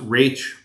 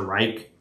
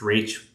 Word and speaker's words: Raich: gonzalez versus rage and it's pronounced rage r-a-y-t-c-h just it's not rice or reich it's rach um let me uh ask a question number 12.